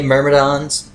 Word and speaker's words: Meridon: and by the way meridon is uh supposedly the correct way to say this guy's name right here those guys are extremely